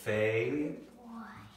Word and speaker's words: fable: Now the thing is, we don't hear that L, we don't have hear that E with the L-E. We just hear the L sound.